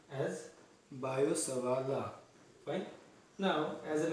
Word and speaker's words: Biot-Savart: Usually pronounced as Biot-Savart law.